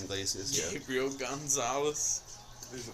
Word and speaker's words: Iglesias: if we're going newer age, Gabriel Gonzalez, or how do you pronounce his last name? Iglesias? Iglesias, yeah.